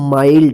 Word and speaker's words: mild: MILD, इसको क्या पढ़ेंगे, माइल्ड, देखिए यहां पे एन नहीं है, फिर भी इसको आई का आई उच्चारण हुआ है माइल्ड, इसको मिल्ड मत पढ़िएगा, ठीक है ना।